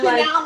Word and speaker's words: Chenell: And I'm Chanel, like Chanel the designer, like well, it's not spelled that way. It's spelled Chenell.